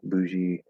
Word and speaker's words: bougie: Um, so it's let's see, bougie, bouge. So depending on what exactly, like what version we're saying or whatever, it's boo or buh with a high schwa, bourgeoisie, bourgeois, or bougie would be that short adjective.